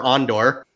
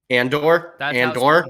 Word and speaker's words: Andor: wait wait wait wait wait is it and or on door and or that's how it's pronounced in the shark oh okay that's pronounced Cassian Andor why did I think